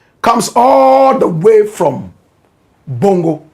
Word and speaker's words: Bongo: Manas aur comes all the way from Bongo. Correct pronunciation. Bongo.